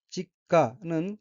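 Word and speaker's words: 実家: 셋째 줄 오른편의 첫 번째 어휘는 한자가 한국어로 실가이고 열매실 집가자로 되어 있고 일본어로 직가라고 읽으며 직가는 생가, 본가, 친정이란 뜻입니다.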